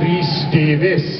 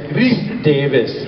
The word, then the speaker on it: Rhys Davies: Not English, Welsh. Rhys Davies. Yes, Rhys Davies. Rhys Davies. I said it wrong, Davies. It's Davies.